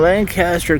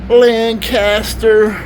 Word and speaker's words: Lancaster: Hey, Dakman, it's not Lancaster. You're saying it wrong. It's Lancaster. And so I am from South Jersey, and we do say things differently. So we say Lancaster, However, you talk to